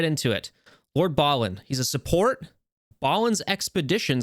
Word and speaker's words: Balin: kit reveal for Lord Balin I know I pronounced it Bailon in the last video but it is pronounced Ballin uh so I'm correcting that for this time